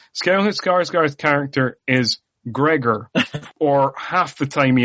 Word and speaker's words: Gregor: o r um it turns out it is g r e g o r so is a Gregor not a Gregor but um and he's a